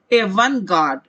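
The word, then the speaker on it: avant-garde: इसे कहा जाता है, प्रोनाउंसिएशन पर ध्यान दे, एवन गार्ड।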